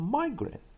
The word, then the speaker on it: migrant: Oh, migrant.